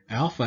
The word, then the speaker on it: alpha: And so, all right, so if we look at these, alpha has a long A sound like father, ah, ah.